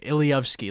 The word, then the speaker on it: ilowski: I even left out my last name ilowski that's how you pronounce it ilowski for the